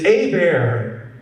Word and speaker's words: Hebert: Herbert I'm from Louisiana my last name is pronounced a bear like a bear is attacking me a bear oh no h is silent E's like an A T is silent blame the French I